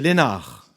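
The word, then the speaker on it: Leenhardt: se trouve deux peintres max Léna ça va j'ai bien prononcé hein c'est lénar nous sommes d'accord rien de plus et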